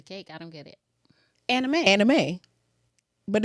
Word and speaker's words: anime: Anime.